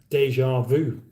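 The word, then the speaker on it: déjà vu: meaty thingies the term Deja Vu is an English pronounced ah uh is an English term pronounced in a French way Deja Vu that's an interesting interesting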